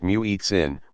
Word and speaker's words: muezzin: The muezzin, pronounced muezzin, makes the call using a form of chanting that can strike the ear as very musical.